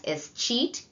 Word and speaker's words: escheat: Transfer by escheat. Some of you might pronounce that as escheat. You've been cheated out of it, kind of, in terms of reminding you how to remember the definition.